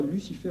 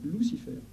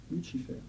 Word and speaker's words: Lucifer: C'est le nom tel qu'il se prononce en réalité. Pas Lucifer, on dit Lucifer. Lucifer.